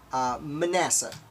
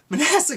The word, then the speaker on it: Manasseh: Manasseh, I believe it's pronounced.